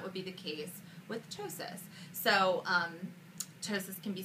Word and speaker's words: ptosis: plastic surgery it's called ptosis repair it is spelled p-t-o-s-i-s and it is the most commonly mispronounced surgery that we do here at the office the p is silent so um in ptosis